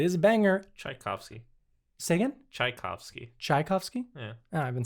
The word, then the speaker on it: Tchaikovsky: do you say it tchaikovsky i'm putting the emphasis on the wrong syllable chai and i said key and i said tchaikovsky tchaikovsky yeah tchaikovsky anyway